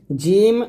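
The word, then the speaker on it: جيم: জিম এবং জা, জিম যখন উচ্চারণ করবেন জিহ্বার মধ্যখান উপরতলের সঙ্গে লাগাবেন জিম।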